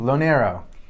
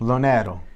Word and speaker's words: LoNero: Hi guys, Pronounce how are your you? last name. LoNero. Now, if it's Italian, so Yes. how would they say it in Italy? LoNero.